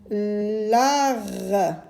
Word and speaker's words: lard: L'art, la lettre D est une lettre muette.